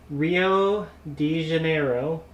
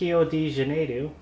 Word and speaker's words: Rio de Janeiro: So we were, if you remember, the Olympics were in Rio de Janeiro, as we pronounce it here in the U.S. Down there in Brazil, it's Rio de Janeiro.